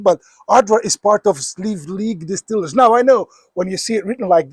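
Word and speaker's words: Sliabh Liag: you'll be like, "How should how should I pronounce this?" It's quite easy once you've heard it. It's Sleeve League.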